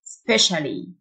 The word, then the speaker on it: specially: مذهل amazing amazing بخاصة specially STIA تنطق تشه specially رحلة جوية flight ال